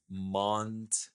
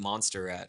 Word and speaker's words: Montserrat: Montserrat. No, yes. Okay, I called it Monsterrat for the first few years. I was using it.